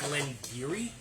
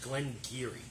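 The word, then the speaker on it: Glen Garioch: Glengarioch, pronounced Glengarry, some sort of Gaelic pronunciation. So for your proof hounds, That sounds pronounced. yeah, What? in Old Gaelic it's pronounced Glengarry.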